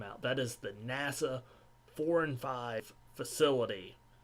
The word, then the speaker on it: IV&V: I hope it's pronounced 4 and 5. It's IV&V. Nope. It's not the 4 and 5. It's the NASA Independent Verification and Validation Facility. It's not the 4 and 5 facility. Which is making efforts to